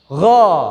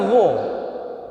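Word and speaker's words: غ: Gha. Jangan dibaca gho. Gha, mulutnya biasa aja. Gha, antara A dan O.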